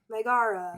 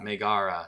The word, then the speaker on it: Megara: Megara. Megara.